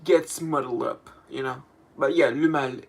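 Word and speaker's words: Le Male: But yeah, le mal is the correct pronunciation.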